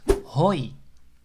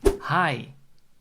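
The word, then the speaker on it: hoi: a really informal way to greet someone is hoy or you can also pronounce it like the English dude hi so this is really informal but you can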